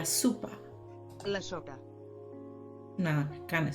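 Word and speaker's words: sopa: catalanas in Spanish but remember o sound like you so it's probably going to be La Supa sugar no kind of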